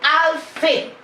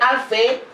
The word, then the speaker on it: Alphée: Son père s'appelait Alphée.